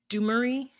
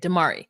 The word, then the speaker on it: Damari: So Dumari? No. That's the way it's spelled. How do you say it? Damari.